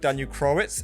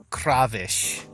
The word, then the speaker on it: Krawisz: Is that the correct pronunciation of your surname? I think that if we were in Poland, it should be Krawisz. But that is you pronounced it the way that I pronounce it.